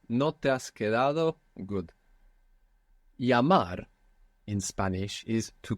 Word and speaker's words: llamar: Llamar in Spanish is to call or to phone, to telephone. Llamar. El, which we said is pronounced like Y in most of Spanish-speaking world.